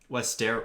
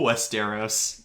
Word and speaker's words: Westeros: scene because it really shows how messed up westero no westeros well also how do you pronounce how do you pronounce marjorie tyrell's name